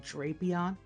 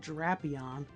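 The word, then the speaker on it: Drapion: Yeah, I think I'm going by like the Pokédex 3D pro pronunciation of this Pokemon's name calls it Drapeon. It's not Draion, although his Japanese name is Dapion.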